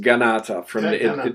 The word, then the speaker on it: Kanata: And it's actually pronounced Ganata.